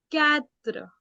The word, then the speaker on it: quatre: 4 in French is quatre. Quatre. Quatre. 5 in French is cinq. Not sink, it is sank. Okay. So I'll go from 1 to 5 first. Un, deux, trois, quatre, cinq.